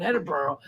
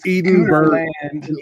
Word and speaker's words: Edinburgh: everybody in Scotland Scotland scooterland and in in Edenberg Edenberg Scotland I know everybody that lives there it's so funny the amount of times that I've had to explain that is pronounced Edinburgh not just to you but to anyone from